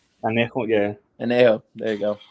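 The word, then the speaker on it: Añejo: Angio? Anejo, yeah, Anejo.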